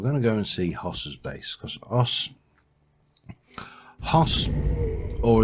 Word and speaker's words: Hoss: We're going to go and see Hoss's base, because Hoss, or as we call it in Yorkshire where I come from, an Oss. We don't pronounce the H. H's are for posh people.